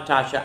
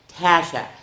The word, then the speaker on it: Tasha: Tasha and I go I'm not a Tasha. I'm a Tasha. I like in what's the fruit? Apple. That's what I do.